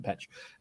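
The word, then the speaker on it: Pécs: It's P-E with a little apostrophe C-S, and it's in Hungary, so I assume it's pronounced like Petch.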